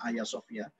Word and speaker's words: Hagia Sophia: Aya sofya atau beritanya Hagia Sophia itu bacanya ayasofia ayasofia itu sepeda di Museum